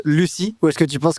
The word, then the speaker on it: Lucille: les gens sauront que ton prénom s'écrit Lucille, mais se prononce Lucie, ou est-ce que tu penses que c'est foutu à tout jamais?